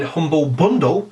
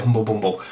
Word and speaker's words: Humble Bundle: want to plug in Humble Bundle see I said it right this week everyone points out last week I called it Humble Bumble so yes Humble Bundle